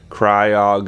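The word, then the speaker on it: Cryogonal: right cryo good ol cry agonal I think is one of those Pokemon that every single person pronounces a little bit differently cry OGG and all but I'm pretty sure I'm saying it right like whenever I watch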